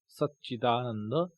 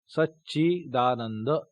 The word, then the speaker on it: Satchidananda: Sat, it comes in Satchidananda, or sometimes we spell it at Satchidananda. Sa, half cha, then cha, ikar, Satchidananda.